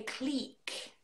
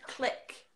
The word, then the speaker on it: clique: See, we would say clique. Clique. A clique, yeah. But I have heard click as well. But I think we've stolen that from like American TV.